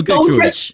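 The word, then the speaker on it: Giedroyc: We have the Memory Kitchen with TV presenter Mel, I can never remember how to pronounce her name. Is it Mel Goodrich?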